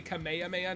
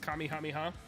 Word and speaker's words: Kamehameha: keep that yeah like I say Kamehameha not Kami hamiha d9s man all right